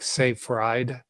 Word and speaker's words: Seyfried: Thomas, it's spelled Seyfried. So it's like Seyfried, Seyfried. Fried eggs.